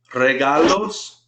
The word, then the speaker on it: regalos: Notice how I'm rolling the R at the beginning of a word. You roll R's if they're the beginning of the word or if you see a double R. Regalos. Notice I'm putting the stress here.